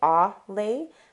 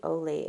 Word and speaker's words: Olay: say it correctly I I used to say ah lay but it's actually Olay if you have never